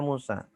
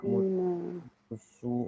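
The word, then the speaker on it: موسى: Musa, selalu dibaca Musa. Musa tidak Musa, Musu enggak, Musa terus.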